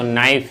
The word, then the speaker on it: knife: FE की जगह, तो नाइफ याद होगा। चाकू होता है, K साइलेंट है, KNIFE हो जाएगा।